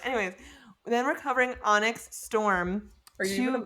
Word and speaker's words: Onyx: Onyx, or I said it wrong again? What is wrong with me? Onyx? You always say onks, and I'm like, what? Onyx? What is onks? Onyx, yes. Wow.